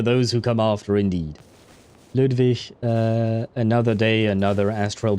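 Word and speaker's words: Ludwig: Oh, and he pronounces it Ludvish, not Ludvig.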